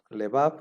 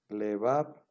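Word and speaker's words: לבב: También tenemos la otra palabra, lebab, que también vimos en el vocabulario. Lebab, que significa corazón, se divide en le. La primera sílaba es le, sílaba abierta, bab, sílaba cerrada.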